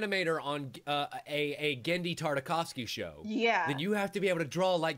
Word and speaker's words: Tartakovsky: if you're an animator on a a gendi tartakovsky show yeah then you have to be able